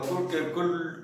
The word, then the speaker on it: could: মেয়েরা যারা কম বয়সের বাচ্চা তারা উডকে অথবা কুডকে কুল্ড অথবা উল্ড বলে। এটা বাচ্চাদের বলে দিতে হবে কি এখানে এরটা সাইলেন্ট আছে, এখানে এরটা সাইলেন্ট, কেননা যখন দুটো